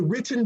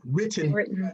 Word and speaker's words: written: been practicing my grammar trying to pronounce my t's because i'm from the south so a lot of times i just say written it just sound like all one thing written budget and people